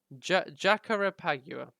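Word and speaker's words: Jacarepaguá: I'm going to check what it is before trying to pronounce it. Jara something or other. Jacarepagua.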